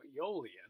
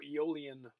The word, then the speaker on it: Aeolian: So Aeolian processes are connected to Aeolus, this Greek wind god. That's why you have that silent A there.